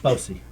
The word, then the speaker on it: Bosie: Oh, I mean, how's it pronounced? Like Bosie. Bossy, okay. You know, like the song.